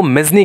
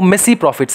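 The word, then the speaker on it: mesne profits: उसके बाद मिसी प्रॉफिट्स, अभी इसको ना देखो, ये जो वर्ड है मिसी या फिर मिजनी, बहुत सारे लोग इसको मिजनी कहते हैं, बहुत सारे कहते हैं इसको मिसी प्रॉफिट्स, ठीक है, तो ओरिजिनल जो इसका प्रोनाउंसिएशन है वो मिसी प्रॉफिट्स है, लेकिन भैया किसको देखना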